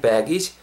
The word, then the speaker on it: baggage: "age" 를 발음 할 때 는 " baggage" 처럼 양쪽 으로 살짝 늘려서 발음 하세요 . "baggage", "keep my baggage" 처럼 요 .